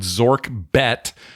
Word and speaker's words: ZORKBET: It's promo code. It's like FOMO.